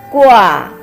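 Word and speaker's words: guà: Let's pronounce it. Ge wu a, gua means hang something.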